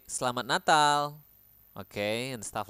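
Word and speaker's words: Selamat Natal: super new to you make sure to pronounce the T at the end and the L at the end clearly slat natal okay so yeah the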